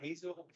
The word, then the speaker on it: Hazelwander: Hazelwander. I got to remember it's like hazelnut, but without the nut on the end.